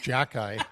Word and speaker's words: Xhekaj: Yeah, Arber Xhekaj, which is pronounced Jackeye for whatever reason.